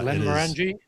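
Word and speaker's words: Glenmorangie: Uh this is I don't know how you pronounce this. It's one of the Glenn's. It's a scotch. Uh Glenn Morani.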